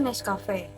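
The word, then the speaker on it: Nescafé: Pada kata Nescafe terdapat kata sca yang dibaca ska, sama seperti dalam pengucapan skala dibaca Nescafe.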